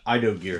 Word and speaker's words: Ido Gear: Yeah, Ido Gear, that's how you pronounce it.